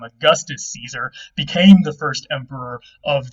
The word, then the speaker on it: Caesar: Of course, again, they pronounced it Caesar, not Caesar.